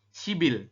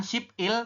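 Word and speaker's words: 십일: Maka kita bacanya adalah shibil. Jadi berubah bunyi jadi bunyi awal. Bunyi awalnya kan B, teman-teman ya. Bukan ship il tapi shibil dibacanya. Tulisannya ship il seperti ini betul. Tapi kita bacanya shibil.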